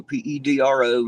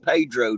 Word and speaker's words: Pedro: I live in a little place called Pedro p-e-d-r-o and yes I know it's pronounced Pedro to everybody who's Hispanic but when you're hillbilly American it's called Pedro that's what it's been called my whole life